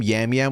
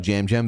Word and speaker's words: Jam Jam: how did this also he called him yam yam which pisses me off cuz I'm like listen however you want to feel about Jam Jam this season one thing's for certain you know how the to say his name you watched him